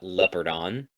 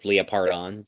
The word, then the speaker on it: Leopardon: it into the robot leopardon or leopardon doesn't matter how you say it they say both ways all the time it's